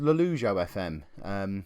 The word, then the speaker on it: Lollujo FM: by the way, and for those of you wondering, it's pronounced Lollujo FM, not any of the other ways I've heard it pronounced in the last 24 hours or so.